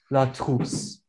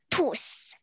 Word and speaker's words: trousse: So, how you say it in French is la trousse. La La trousse. Trousse. Tousse. La trousse. We all said tousse. You said you, I think you guys are saying tousse.